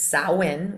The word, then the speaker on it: Samhain: So sin is a religious festival originating from ancient Celtic spiritual tradition. In modern times, sin, which is spelled s a m h a i n, is usually celebrated from the 31st to the 1st.